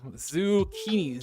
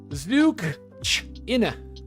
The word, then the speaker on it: zucchini: If I read that out phonetically, like if I tried to read it how I thought words work, I would say zukina.